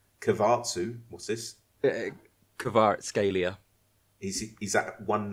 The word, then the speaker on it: Kvaratskhelia: I can actually tell you how it's pronounced. Are you ready for this? Yes. Please. So it's Kvaratskhelia.